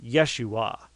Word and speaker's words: Yeshua: yah joshua or Jeshua yeshua is how it's pronounced in hebrew fact there's ten Hebrew